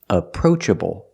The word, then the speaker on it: approachable: he's very approachable pronunciation approachable the first syllable is a relaxed uh sound like cup and up and the second vowel is the long o like know and go together approach approachable approach